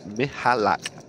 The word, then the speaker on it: Michalak: in the YouTube stream said it's pronounced Michalak. So I'm guessing a silent C. Silent C. All right. Nobody tells me what to say, though. I'll just say that. Michalak.